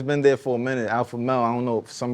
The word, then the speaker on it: Alphamel: You got my man Alphamel.